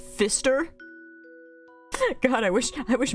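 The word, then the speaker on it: Pfister: For One what's that oh pH is pronounced as an F no it's PF it's the word Fister but there's a p in front of it Fister rainbow fish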